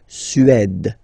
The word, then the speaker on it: Suède: Remember, accent grave, it's really open. Suède.